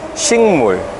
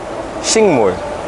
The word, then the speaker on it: 식: all kinds of plants it's uh spelled as shik but it's pronounced as shing shing and then across this